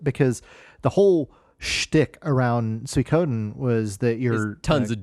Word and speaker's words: Suikoden: You said Suikoden. Suikoden. I've always said it that way. Is that not correct? No, the I is not emphasized. The Suikoden. Like you're calling a pig like Sui, when you call your pigs.